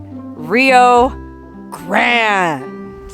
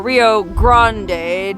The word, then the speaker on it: Rio Grande: There she is, the mighty Rio Grande, or Rio Grande, depending on how you want to pronounce it.